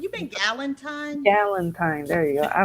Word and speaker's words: Galentine: It's like You been Galentine? Galentine. There you go. I don't know. I said gelatine. No. I think I'm thinking gelatin.